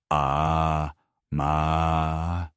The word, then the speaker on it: amae: The third pillar, and perhaps the most misunderstood concept in Japanese parenting philosophy, is amae, pronounced ah mah.